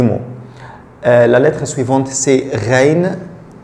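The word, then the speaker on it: غين: La lettre suivante, c'est reine. Reine, comme le R français.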